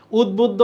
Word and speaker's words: উদ্বুদ্ধ: আমরা একটু লিখে ফেলি উচ্চারণ দেখো উদ্বুদ্ধ এখানে কোথাও হস চিহ্ন নেই হস চিহ্ন থাকতেই হবে উদ্ব বুদ্ধ এখানে হস চিহ্ন আছে এখানে হস্নে এখানে হস্ যদিও তোমাদের অপশনে হস্ থাকবে এইটা যেটা আছে এটা আমরা জানি উদ বুদ ধো তা এখানে দ এখানে দ শেষে ধ এটা হবে উচ্চারণ তাহলে উচ্চারণ থেকে প্রশ্ন